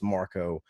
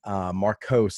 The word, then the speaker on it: Markos: Louis Marco on Markos. I'm sorry. I mispronounced your name right off the first bat.